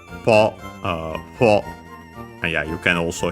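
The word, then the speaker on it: 歩: But yeah, nowadays ho instead of po. Po is the original pronunciation, as we have said before.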